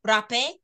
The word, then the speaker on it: rapé: And sometimes it's spelled RAPE with an with an accent over the E, rapé or hape.